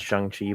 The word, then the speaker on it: Shang-Chi: Actually, I'm pretty sure it's pronounced Shang-Chi, but whatever.